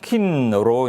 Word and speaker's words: KINN: 예, KINN 이 발음이 잘 안 되죠. KINN. 힘든데. 네. 그래서 그냥 킨으로 이제 저희들도 부르고 있습니다.